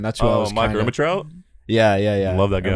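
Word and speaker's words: Ehrmantraut: Mike Ermitrout? Yeah. Love that guy. Ermitrout. That's how you say it.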